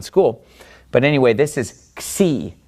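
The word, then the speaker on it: ξ: but anyway this is C C makes the X sound so we have me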